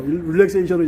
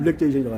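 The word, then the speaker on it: リラクゼーション: 발음이 네. 영어하고 일본하고 틀려. 릴렉세이션은 얘는 릴렉제이션이라고 하네요.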